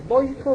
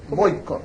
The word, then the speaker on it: Vojko: estamos Cómo se dice boico boosco boico boico boico J total solamente en español se pronuncia como J no en otros idiomas tiene pero J en